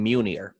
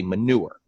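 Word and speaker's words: Munier: real name is muni ER and a couple of reasons why I I no longer go by that number one is it's because people would pronounce it wrong they'd say manure and which is not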